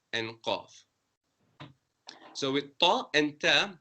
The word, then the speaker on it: ق: And qaf is pronounced with a rounder mouth, qaf.